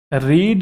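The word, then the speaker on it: read: रीड, रेड, रेड, अगर आपको पता हो इसकी फॉर्म्स जो होती हैं तीनों सेम ही रहती है, प्रोनाउंसिएशन डिफरेंट होती है, तो ये V1 क्यों नहीं है?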